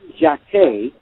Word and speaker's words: Jacquet: well but the name Jacquees that's how you say it in French you don't pronounce it